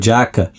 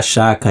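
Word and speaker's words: Xhaka: ah se eu não não me identifiquei muito com a pronúncia do Jaca prefiro falar Shaka eu expliquei para o cara não é porque o Tiago realmente faz um estudo aí de pronúncia do nome dos jogadores de acordo com o país de onde eles vem e e por isso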